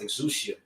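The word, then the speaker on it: ἐξουσία: Now, particularly in this verse, the word power in the Greek that's pronounced exousia.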